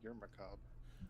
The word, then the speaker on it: macabre: Yeah, Well, macabre doesn't have the r on the end of it. It I is know. also a French word. You're macabre.